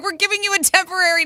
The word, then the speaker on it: Tempoarie: They finally settled on, Tempo Air, pronounced temporary. It's spelled Tempoarie. Temporary.